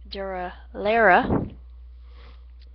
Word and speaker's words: Durarara: I had watched Durarara when it was actually, the correct pronunciation would be Durarara on Cartoon Network when it was aired, and I got the import version of it.